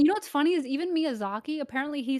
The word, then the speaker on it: Miyazaki: so crazy wait hold on did uh did mizzy yaki oh sorry i don't know how to pronounce this miyazaki yeah oh okay did he make sakiro yeah